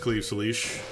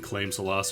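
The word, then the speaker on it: Claíomh Solais: Yeah, the big blue sword from this game is pronounced Cleve Salish. I made that my New Year's resolution one year, is look up how to actually pronounce it, because I was just saying Claim Salas or some nonsense like that.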